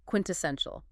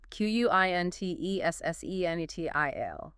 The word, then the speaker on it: quintessential: And the last one for this academic set, quintessential. Quintessential. Stress. Stress on the third syllable. Quintessential. 4 syllables.